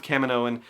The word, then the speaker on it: Kaminoan: we have a Kaminoan saying it's Kaminoan, then I'm going to go with Kaminoan, and I'm going to try and stick with that and knock that into my brain to make sure that I say it right going forward.